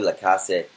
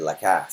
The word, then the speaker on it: Lacasse: end where it was Chloe La Casa or Chloe the castle I was saying her name wrong all day but the announcer said La Cass so Chloe lacasse was